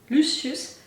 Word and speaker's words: Lucius: anymore but as Lucius I think that he pronounced it luus but clearly Lucius I was already imagining